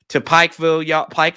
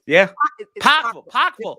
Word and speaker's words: Pikeville: If you go into Pikeville, Kentucky. You said it wrong. It's Pikeville.